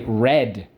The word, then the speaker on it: read: in the past but we don't say read it we say red let's go not the